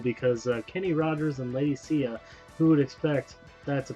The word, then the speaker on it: Sia: No, Sia. Oh, Sia. Okay, I think of Lady Sia. It's Sia, but it's spelled.